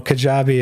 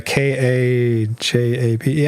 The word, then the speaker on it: Kajabi: Oh, Kajabi. It's a k a j a b i Yeah, uh I don't know. How do you spell it, Brian? k a j a b i Kajabi Kajabi It's like Patreon.